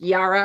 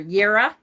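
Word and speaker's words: Jera: looking for this one it's pronounced yara or yira um and it's not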